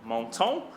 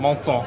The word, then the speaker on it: Menton: Menton. But I guess, yeah, exactly. Okay. Menton, exactly.